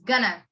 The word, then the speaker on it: going to: it has going to so you would pronounce it or you would say this gonna gonna when are we gonna